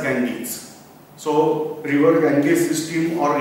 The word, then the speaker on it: Ganges: Now we have name as Ganga, but in English it is pronounced as Ganges.